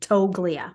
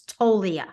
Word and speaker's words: Toglia: Michael tolia the G the g is silent Michael tolia you should